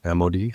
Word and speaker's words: Amodei: I think the Dario Amodei, how do you pronounce Dario's name?